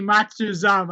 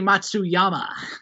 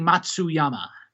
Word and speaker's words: Matsuyama: i just lost it why is that not how it's pronounced no it's uh it is hideki matsuyama ah yes okay so i can't read matsuzama that was funny i'm sorry um okay yeah let's uh regain our composure oh wait how is it pronounced it is uh hideki matsuyama uh well i mean